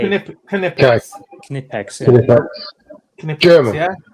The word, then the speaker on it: Knipex: I just say Knipex. It's Knipex. Silent K. Sorry, K. hang on. K. Yeah, it's K. Knipex.